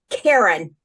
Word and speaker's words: Karen: got my name now my name is pronounced Karen in English but when I moved to Israel I learned that my name in Hebrew is pronounced in the middle and I thought whoa